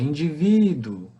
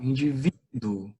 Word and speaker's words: indivíduo: Indivíduo. Então, o vi seria a sílaba tônica aí.